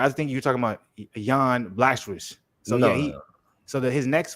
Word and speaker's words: Jan: Because I don't think you pronounce the J, actually. It's supposed to be Jan, and then it's supposed to be Jiri.